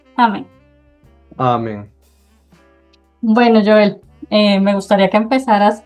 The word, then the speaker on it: Joel: Mi nombre completo es Joel, aunque algunos lo pronuncian como Joel, yo a veces prefiero que lo pronuncien con la J fuerte como como dice en